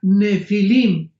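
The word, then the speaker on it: Nephilim: Nepilim se pronuncia Nefilim en el original hebreo.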